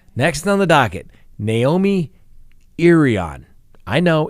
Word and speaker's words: Irion: on the docket naomi irion i know it's spelled i r i o n like iron i rhian lots of things but it's pronounced irion i know the i is a long e who knew anyway the